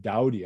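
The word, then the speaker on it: Dowdye: physicist this name is edward doughty i believe you pronounce it it's it's spelled d d-o-w-d-y-e i believe but he goes and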